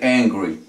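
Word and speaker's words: angry: puede utilizar henry henry primero que todo vamos a confundir si lo pronunciamos como con especie de h que en inglés es la jota entonces lo podríamos confundir con hambriento hambriento sería hungry henry mientras que aquí vamos a decir en gris como si hubiera una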